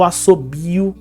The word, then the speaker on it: assobio: outro caso, que é quando um o vira som de u. Como no caso do assobio, como o assobio. Qual que é a sílaba tônica de assobio?